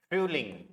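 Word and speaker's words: Frühling: को विंटर ही बोलेंगे, स्पेलिंग भी सेम रहेगा, प्रोनाउंसिएशन भी सेम रहेगा, पर इधर जोमर समर। नेक्स्ट जो है दैट इज डेयर फ्यूलिंग, कैसे पढ़ेंगे, फ्यूलिंग, फ्यूलिंग।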